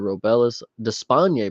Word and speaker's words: Robelis Despaigne: Robelis Despaigne, by the way, is how you say it,